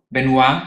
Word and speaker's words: Benoit: Ja, in diesem Buch beziehst du dich auf ein Buch von Hubert Benoit, wird er so Benoit gesprochen? Benoit wird er ausgesprochen, gesprochen.